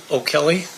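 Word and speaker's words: O'Kelley: And if you please state your full name and then spell it for the record. It's O'Kelly, and it's O''Kelley.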